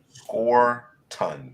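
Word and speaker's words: Scourton: Score ton seems to be the guy pronunciation. Thank you, Okay, Dana. Scorton.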